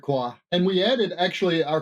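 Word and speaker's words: Kua: with Rebeca person and Patrick CUA I not sure how to pronounce his name you got close it's Patrick qua and we added actually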